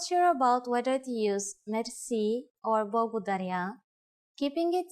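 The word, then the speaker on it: мерси: you will be amazed which word that is merci merci Mercy is a long word from French but it is pronounced with a typical Bulgarian heart r a it is used mainly in informal situations merci how do you answer it's easy there are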